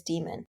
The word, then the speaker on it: Diemen: According to Google, it is Demon.